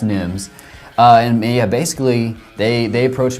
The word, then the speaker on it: Nghiems: It's the Nghiems, Nghiems. Okay. It's pronounced Nghiems.